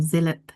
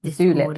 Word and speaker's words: Zulip: Zillip. Is that how you say it? Zillip. Yeah, Zillip. Um Zulip like a tulip. Zulip. Oh, Zulip, like a julip.